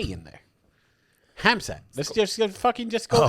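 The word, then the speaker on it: Khamzat: Is it Hamzat? It's Hamzat? It's Hamzat. Hamzat. Yeah. The K is silent.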